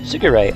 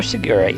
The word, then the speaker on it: Shigure: Shigure, on the other hand, is another example of this. It's comprised of Shi, Q, Rei. The Japanese pronunciations of the numbers 4, 9, and 0.